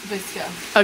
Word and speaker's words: VSCO: VSCO.